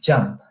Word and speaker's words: JMP: division of jmp uh jump division of sas it's pronounced as jump so even though it's jmp it is pronounced as jump so i keep telling